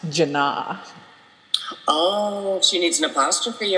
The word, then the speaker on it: Janna: school whose name was spelt j a n n a um but her name is pronounced jana oh she needs an